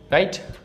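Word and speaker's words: write: Silent W, जैसे राइट, wrong, rest. यहाँ पे जो ये डब्लू है ये साइलेंट है, साइलेंट है, साइलेंट है, ठीक। जब शुरुआत में WR से होती है तो डब्लू का उच्चारण नहीं होता है।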